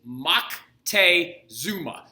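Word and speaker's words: Moctezuma: the aztecs at the time his name is maktay zuma spelled m-o-c-t-e-z-u-m-a you can also spell it monte zuma it really just depends on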